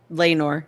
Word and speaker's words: Laenor: Laenor, yeah.